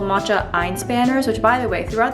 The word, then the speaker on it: Einspanner: I think it's Einspanner. Einspanner? But I feel like I'll just make more of a fool of myself trying to pronounce it the German way because it is German.